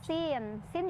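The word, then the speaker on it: سين: Kemudian yang sin juga kalau diuraikan jadi 3 huruf juga. Si, ya sukun dan nun sukun, dibacanya 6 juga. Sin, gitu.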